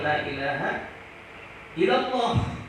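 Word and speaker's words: لا إله إلا الله: Dengan ucapan yang fasih, la ilaha illallah, jangan la ilaha illallah. Nah, pakai tam tasdid.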